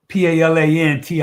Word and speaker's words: Palantir: And just for the record, and this is my mistake, it's spelled PALANTIR.